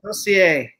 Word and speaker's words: Crozier: And then, of course, my last name is French, but we pronounce it Crozier, Crosier. Yeah, Crosier. I was like, darn it.